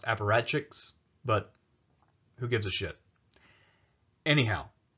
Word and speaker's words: apparatchiks: high places among the I park sheiks of the party or I guess the word is technically pronounced apparatchiks but who gives a